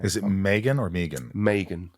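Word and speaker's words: Meaghan: it Megan or Megan Megan like like Reagan I say it wrong all the time my kids say it wrong all time Megan like Reagan Megan mea G ha and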